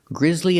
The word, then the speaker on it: grizzly: violent and bloody and remember the two words Grizzly and grizzly they're both pronounced exactly the same but they mean